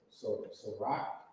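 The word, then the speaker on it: Cîroc: So rock.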